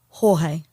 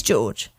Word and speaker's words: Jorge: about this case and one of the main videos calls George Torres Jr Jorge throughout the entire thing now it is spelled like Jorge with j-o-r-g-e so Sarah calls him George his brother calls him George the police call him George so it is George okay that guy got